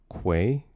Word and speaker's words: quay: It's pronounced quay. Uhhuh. Uh, say it with me now. With a Q. With a Q. Quay. I'm lagging. I'm lagging. Quay, not key.